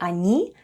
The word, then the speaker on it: они: When we need to say "they are eating" in Russian we say /anee yedyat/, where ОНИ /anee/ is "they" and ЕДЯТ /yedyat/ is "are eating."